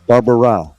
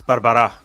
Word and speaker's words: Barbara': hate doing that so I'm going to say Manuel Barbara close it's Barbara but uh you know